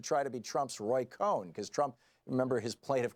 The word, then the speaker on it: Cohn: he referred to him as Michael Cohen, one syllable. Now, Roy Cohn, whose name was spelled C-O-H-N, was the notorious